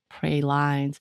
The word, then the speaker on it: pralines: Pralines. That makes sense. Yeah, so it's something like that. Make a fourth one, wouldn't it? It's pray, pra, and then lean, line.